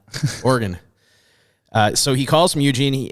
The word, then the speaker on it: Oregon: You got to say that right. You'll Oregon. get very upset. Not Oregon, Oregon.